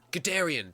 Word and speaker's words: Guderian: Guderian!